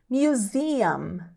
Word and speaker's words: museum: terminando com zam zam tem que fechar a boca aí nesse final tá como a letra